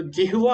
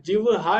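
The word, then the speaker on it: जिह्वा: group में भी डाला था ना हा और वा तो जिवा होता है जिहा नहीं होता जिवा होता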